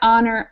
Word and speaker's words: honor: help history but this these last six words here are are the words that don't actually get an H pronunciation because sometimes we use H without pronunciation in English so that would be